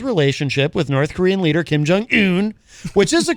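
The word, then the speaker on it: Kim Jong Un: talked up his relationship with North Korean leader kim jong hoon which is the correct way to say it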